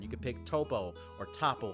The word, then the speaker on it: Toppo: can pick toppo or Tapo how they say it in again that might be a localization there is it toppo or Tapo I'm pretty sure it's toppo I'm just going to